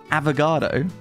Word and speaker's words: affogato: Up next, we got a dessert, and I'm having troubles pronouncing this one, but I think it's pronounced Affogato, not to be confused with an avocado.